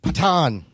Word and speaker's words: Pathaan: It's pronounced Pathaan.